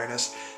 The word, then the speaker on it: anise: it because it is a little anise heavy or anise I guess and this is how it's pronounced star anise um you know and